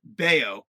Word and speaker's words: Bello: So I had pronounced it wrong. I thought it was Bello. It's actually Bayo against Nestor Cortez.